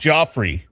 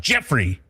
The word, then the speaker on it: Geoffrey: or Jeffrey is that people that spell it Geoffrey, sometimes they like to be called Joffrey, right? Well, like yeah, those are people we know it has to be done. right. So then you say it and you know, oh, it's spelled like this, and then they're like, no, it's pronounced Jeffrey.